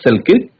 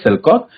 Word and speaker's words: Selkirk: Dear student, you can able to see some pronounce it as Alexander Selkirk, but its actual pronunciation is Alexander Selkirk.